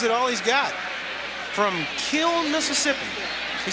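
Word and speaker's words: Kiln: there and gives it all he's got from Kill Mississippi he said there's an inn on the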